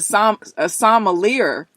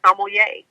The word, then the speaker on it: sommelier: They're like, what's a sommelier? Oh yeah, I have heard so many versions of that word. It's so funny. I've heard some people pronounce it as sommelier.